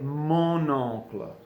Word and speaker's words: mon oncle: out oh and so even though the word is pronounced all Club we're gonna say mano club Mon Oncle we have the liaison and remember that's where